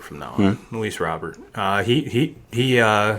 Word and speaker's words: Robert: and i guess we've been uh pronouncing luis luis robert's last name wrong everyone was saying was robert and the announcers are saying robert so i'm i'm going to call him robert from now on at